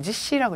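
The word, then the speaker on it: 実施: 요거는 음으로 읽었을 때 지시라고 읽어주세요.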